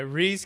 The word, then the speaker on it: Rhys: And again, it's making sure I pronounce it right. It's Rhys, right? It is. Yeah, I get called Rhys a lot. Okay, Rhys.